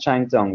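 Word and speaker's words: Kengtung: that it's got two different spellings but it's pronounced chime dong and this is a nice isolate town in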